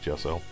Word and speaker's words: gesso: her Jess I'll make it's pronounced gesso as a primer now